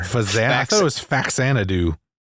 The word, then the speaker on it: Faxanadu: I thought it was Faxanadu. Mhm. No, it's Faxanadu.